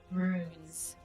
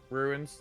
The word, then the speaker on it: rune: Like Yeah, say it like that. It's rune, Runes. not ruin.